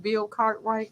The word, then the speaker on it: Bill Cartwright: Bill Cartwright.